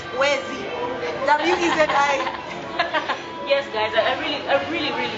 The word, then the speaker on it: Wezi: Yeah, and it's a 2-syllable word, Wezi.